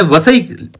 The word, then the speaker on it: वसई: मैं आपको बताऊं तो ऑफिस का नाम बेसिन नहीं है व सईद बोला जाता है महाराष्ट्र में वसई और इंग्लिश में हिंदी